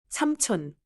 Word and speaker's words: 삼촌: The final sound in 삼 is a closed 미음 sound. Then 촌 starts clearly. 삼촌.